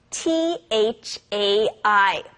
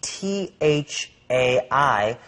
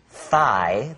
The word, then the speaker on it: Thai: We see T h ai, but this isn't pronounced thigh. This is Thai. It's a hard t.